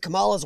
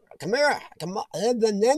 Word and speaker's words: Kamala: Kamara. Oh my gosh, I said her name wrong.